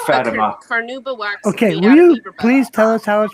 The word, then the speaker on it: Fatima: I say Fatima because It's pronounced Fatima.